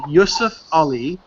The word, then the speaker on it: Yusuf Ali: the one that's translated by a guy named Yusuf Ali. It's spelled Y-U-S-U-F space A-L-I.